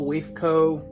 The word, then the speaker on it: WFCO: I have a WFCO, WFCO, that's how you say it.